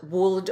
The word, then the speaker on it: would: Could, should, would, they all rhyme and they both have that silent L. So if you've been pronouncing the L in these words, don't. It's not cooled, would, or should, which I've heard people do. No L there.